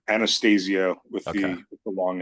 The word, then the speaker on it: Anastasio: He pronounces Anastasio with Okay.